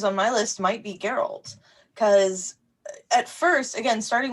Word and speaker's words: Geralt: not for sorry who geralt did I say geralt geralt geralt I don't know it's not like Gerald I could remember if he had some kind of weird pronunciation to the to the G or what but uh